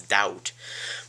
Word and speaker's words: doubt: a D in it's doubt but there's a b in it you don't pronounce it's a b do you that's the grammar lesson